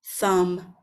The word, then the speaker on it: thumb: word you know that the B is silent and we don't pronounce it let's have a look